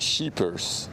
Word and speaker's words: sleepers: So the s c in Dutch is pronounced as sh. No, not sheepers. Sheepers. If I would translate it to English, it would be sheepers.